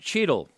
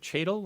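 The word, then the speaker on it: Cheatle: Her name is Kimberly Cheadle, I believe. Cheadle, I think that's the way the name is pronounced.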